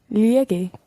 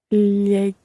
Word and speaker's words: llegó: Cuando Jorge llegue. Not llegué. Llegó.